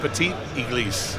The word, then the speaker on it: Petit Église: Petit Église. Petit Église. Yeah, it looks you don't. It has an L in front of it, Église, but you don't say the L.